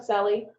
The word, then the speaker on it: Selle: my name is sully the cellie doesn't look like that's how it's said but that's my name